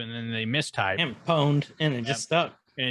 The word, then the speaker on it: pwned: Pwned. Pwned. Pwned. Pwned. Pwned. Pwned. I like your version better. Yeah. Oh, you got pwned. You got what? Yeah. You got It's owned.